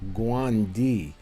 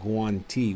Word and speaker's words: guanti: used to pronounce them guandi but here in Italian they pronounce them guanti with the T all right and we